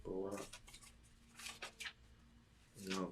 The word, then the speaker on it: Baruch: It looked like it say Baruch, but it's pronounced Barak.